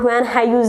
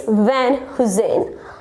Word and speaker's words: Van Heusen: Yeah, it's look like Van Heusen, yeah, Hayuse, but it's not Van Hayuse or something else. It's Van Heusen.